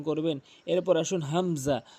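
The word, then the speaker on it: همزة: এরপর আসুন হামজা, হামজাটি হলকের শুরু থেকে উচ্চারণ করতে হবে। এটি হামজা, হামজা জবর আ বলতে পারবেন না, চাপ দিয়ে বলা যাবে না, আ বলতে হবে, আ।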